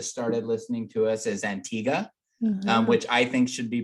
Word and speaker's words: Antigua: The most recent country that started listening to us is Antigua, which I think should be pronounced Antigua because it ends with G-U-A.